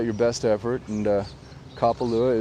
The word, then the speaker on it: Kapalua: best effort and uh kapalua is said like that kapalu it's not kappalu it's kapalua of course a lot